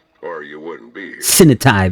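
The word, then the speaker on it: Sinotai: Sinitai, that's how you pronounce One of their that.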